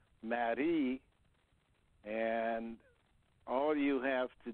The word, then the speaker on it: Marie: In French, it's pronounced Marie, and all you have to do is spend enough time thinking about this process.